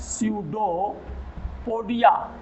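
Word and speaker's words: pseudopodia: सार्कोडाइना, सार्कोडाइना में आता है अमीबा, अमीबा में जो गमनांग होते वो होते हैं स्यूडोपोडिया, जिसको कहते हैं कूटपाद, पी साइलेंट होता है, स्यूडोपोडिया, हिंदी में इसको कहते हैं कूटपाद।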